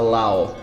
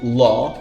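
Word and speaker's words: law: essas pessoas pronunciando errado as pessoas têm mania de pronunciar lau lau enorme Eu acho que é o nome da série você não me engana a diferença entre ló que é o nome dessa pronúncia loló e Lou que significa baixo Então olha só ló significa lei low significa baixo traz essas duas palavras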